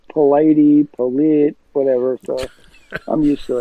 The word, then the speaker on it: Polite: It's Polite, whatever, so I'm used to it. Yeah, try saying DeLauder. That's how it's spelled.